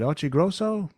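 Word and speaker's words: Occhiogrosso: That reveal that they had planned to tour was made to Peter, you got to pronounce it right. Is it Ochigrosso?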